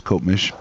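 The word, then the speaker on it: Copemish: do you say that cop Mish cop how do you say that town you know that's one that's always right in there me Coop Mish I think it is kop mish yeah he uh he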